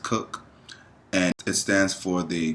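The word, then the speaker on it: CUC: two types of currencies there is the the cook they call it it's spelled CU but it's pronounced cook and it stands for the Cuban convertible pce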